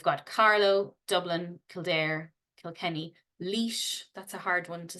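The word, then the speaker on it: Laois: Republic's Capital we've got Carlo Dublin kir Kilkenny leash that's a hard one to say Longford loud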